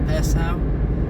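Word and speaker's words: Passau: I think it's pronounced Pasau, which is the last town in Germany before Austria.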